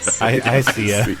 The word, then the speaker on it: IKEA: I see ya. It's I see ya. Yeah. Yep. Because you guys don't ever pronounce C in anything.